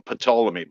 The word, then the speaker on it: Ptolemy: are based on pathology i call them patolomy by the way with i pronounce the p um all the other